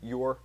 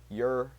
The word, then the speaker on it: Ure: How do you even pronounce that dude's last name? Yur. Yur.